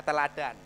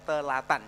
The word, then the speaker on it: teladan: Nah, teladan, ya, membacanya harus benar, teladan, bukan telatan, ya, itu begitu.